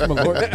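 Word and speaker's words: Malört: It's Malort.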